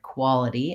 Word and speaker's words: quality: know what happens where so that's gonna help you with the word quality and making that flap T sound I also wanted to